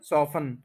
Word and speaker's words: soften: verb जो है ना सफन इसमें भी टी साइलेंट है और ये निकला है